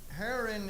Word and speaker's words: Haran: And they go to a place that they name it after, and they name it Haran. That's the way I pronounce it. And they stay there a while. And it looks like Haran is a long ways